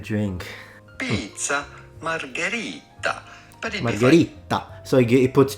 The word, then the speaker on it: margherita: But it Margherita. So he puts 2 T. No, it's pizza margherita.